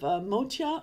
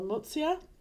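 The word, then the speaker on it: Motya: And in particular, the Western colony on the island of Motia or Motsia. It's actually both are reasonable pronunciations. One is more ancient and one is more modern.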